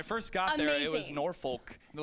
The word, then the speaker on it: Norfolk: that's how they call in the south guys it's spelled n-o-r-f-o-l-k so when i first got there it was norfolk they're like no no it's pronounced norfolk and